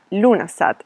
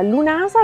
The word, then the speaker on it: Lughnasadh: come riserva per l'inverno il nome di questa festa pronunciato come se la g non esistesse viene tradotto come assemblea